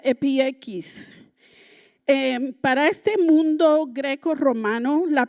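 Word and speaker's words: ἐπιεικής: amables en el griego Se escribe o se pronuncia epieikis. Para este mundo greco-romano, la palabra epieikis, tenía una cantidad de resonancias.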